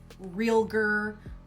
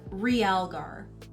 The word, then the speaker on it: realgar: called it something along the lines of like real gir or they wouldn't even attempt to say it